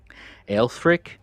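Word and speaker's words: Aelfric: I don't know all the right pronunciations, but if I'm if I'm saying this correctly, it's alfrick or lr. I don't know because it's a e lf r i c.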